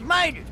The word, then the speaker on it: Mater: Tater rhymes with mater. Not only that, but Mater rhymes with Tater, too.